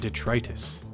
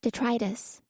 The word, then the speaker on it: detritus: Eckles this world is full of scum and detrus how do you say detritus detritus and it's only right that we all bear